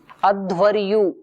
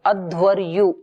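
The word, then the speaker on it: अध्वर्यु: उच्चारण करता है उसको अध्वरयु कहते हैं अध्वरयु अकार आधा ध अध व और य यु के ऊपर र रेफ अध्वरयु और जो साम गान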